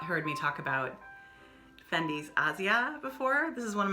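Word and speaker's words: Asja: looks like aja but it's pronounced asia which is how italians i believe would say that um this is you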